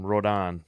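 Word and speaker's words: Rodón: Rodon.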